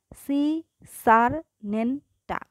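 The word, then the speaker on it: Secernentea: ক্লাসের ক্ষেত্রে এটা হচ্ছে সি সার নেনটা, উচ্চারণটা ভেঙে ভেঙে করবা, বানান কখনোই ভুল হবে না।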